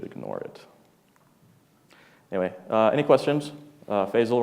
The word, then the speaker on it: Faisal: Faisal rhymes with Basil.